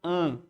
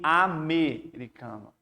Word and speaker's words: americano: Porque se você pegar a palavra americano, visualmente pensa que americano, quando você visualmente pensa que é dígrafo no AM. Só que aí você não está pronunciando an, e sim americano. Inclusive você está pronunciando todas as letras.